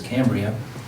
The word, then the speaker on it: Cambria: couple years I was corrected that the proper pronunciation is Cambria and I do know about the history of